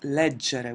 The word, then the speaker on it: leggere: By the way, that the infinitive is pronounced leggere with the soft pronunciation, so that's why it's a little bit counterintuitive to pronounce it hard in some conjugations.